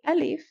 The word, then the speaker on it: ا: So the alif, that is pronounced as an a, may also be pronounced as an e in certain regions.